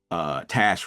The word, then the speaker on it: Tash: So, and as she said yesterday, Tash rhymes with cash.